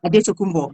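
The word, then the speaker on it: Antetokounmpo: And so obviously you had the opportunity obviously to talk to to bring to life the the character Charles Adumbo. Obviously that's the right pronunciation.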